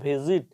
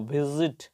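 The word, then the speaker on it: visit: শব্দটিকে উচ্চারণ করতে হবে ভিজিট এই মাঝের এস থেকে বর্গীয় জ সাউন্ড করতে হবে কারণ দুই পাশে দুটো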